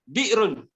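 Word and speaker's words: بئر: Bi'run. Telaga. Bi'ru. Ejaan. Ba. Hamzah. Ba alif Hamzah. Hamzah tu atas alif.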